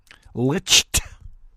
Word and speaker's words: Licht: what Chris liked is that is how he pronounced his name Chris liked Licht I wish it was lynched anyway Chris liked